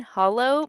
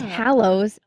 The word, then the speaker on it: Hallows: Which that's not how it's spelled. I think in my brain I was thinking hollow, but then as I was saying it I'm like Yeah. It's Hallows.